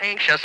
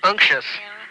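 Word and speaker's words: unctuous: Not anxious, but anxious. U N C. U N C T. I O U S.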